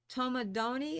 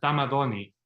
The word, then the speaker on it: Tamadoni: And then Gaston Tomadoni, is that how it's pronounced? Because Gaston is French, but he's No, he's right at Tamadoni. It's T-A-M-I.